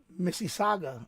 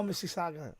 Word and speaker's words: Mississauga: i can't even i i can't pronounce this missy saga oh mississauga yeah ontario that's canada but